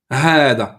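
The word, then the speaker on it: هذا: Attention que hada, les frères, ici, ils ne le disent pas, mais hada, on le prononce avec une prolongation. Hada. J'ai un peu exagéré, mais comme ça, vous la voyez. Après le ha. On ne dit pas hada. Hada.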